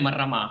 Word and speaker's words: Marrama: Il cognome è Marrama, scusi. Ah, Marrama, con l'accento sulla A? Sì, esatto.